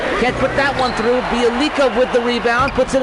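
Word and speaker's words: Bjelica: Bielika with the rebound, puts it in off the glass. Bielitsa, that's the way you pronounce his name.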